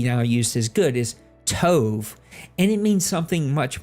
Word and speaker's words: tov: and a Yiddish word that that means it's pronounced Tove and it means completely different from the way